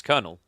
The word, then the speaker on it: Colonel: know it's weird colel Colonel spelled the same either way right is it pronounced the same I thought it was pronounced the same it's konel it's definitely spelled weird